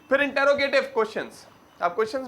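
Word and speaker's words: interrogative: फिर होता है इंट्रोगेटिव। स्पेलिंग तो क्या है? इंटेरोगेटिव, मगर प्रोनाउंसिएशन में इंट्रोगेटिव बोला जाता है ज्यादातर।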